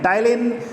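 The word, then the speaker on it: ptyalin: टाइलिन। P silent है यहाँ पर।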